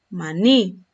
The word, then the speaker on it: maní: Mire, por ejemplo, maní. Esta palabra yo la voy a tildar porque el acento lo tiene en la última sílaba.